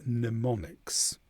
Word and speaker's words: mnemonics: And the m is silent altogether at the beginning of the word mnemonics.